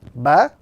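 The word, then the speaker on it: باء: When we look at the pronunciation of the letter, this letter is pronounced when the inner moist parts of the lips meet.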